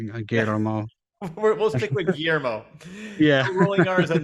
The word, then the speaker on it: Guillermo: Guillermo, or Guillermo del I think there Toro. might be a roll in the R, but I'm not good at that. Yeah, Guillermo. we'll stick with Guillermo.